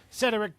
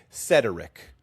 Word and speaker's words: Cedric: I'm hearing three syllables. Okay. I'm hearing you say Cedric like rhetoric.